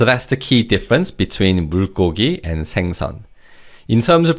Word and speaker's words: 물고기: So that's the key difference between 물고기 and 생선. In terms of pronunciation, this word 물고기 is pronounced as 물고기.